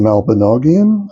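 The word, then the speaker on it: Mabinogion: The Malbanogian, I believe, is the way you pronounce that text.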